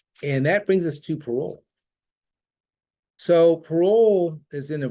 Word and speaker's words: Parole: Now, I used to eat in Payroll, Maryland, for many years, all the time.